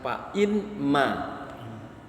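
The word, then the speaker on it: فإما: Jadi asalnya fa imma. Tapi nunnya dilebur, maka karena dia dilebur bacanya jadi fa'imma, pakai tasdid tuh di nun, fa'imma.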